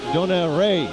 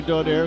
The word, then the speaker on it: Donaire: hotel we were staying they were chatting donald ray too pronouncing this name differently but we go by donaire because that's the way he pronounces it left this country